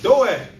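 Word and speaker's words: Doeg: Doag." Doag the Edomite. And the Lord be funny sometimes. His name is spelled D O E G. All right. You see, like we say with dogs, Doag the Edomite, right?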